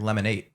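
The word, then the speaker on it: Lemon8: other reason behind it I think it's supposed to be pronounced like lemonade oh lemonade oh my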